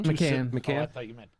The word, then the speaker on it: Macan: Even the Porsche, how do you pronounce it? Macan? Macan.